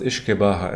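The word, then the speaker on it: uisge beatha: languages uh it's uh it's pronounced isaha in the Celtic Anda in GIC which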